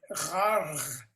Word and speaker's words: ghargh: If you look in the dictionary, the Klingon dictionary, there's a word gharg.